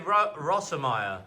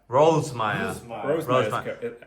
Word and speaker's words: Rossemeyer: So they say Rossemeyer. It's really hard to say. Yeah. You can say Rosmeyer. Yeah. Sometimes I say Rosemeyer. How do you pronounce it? Rosemeyer. Rosemeyer.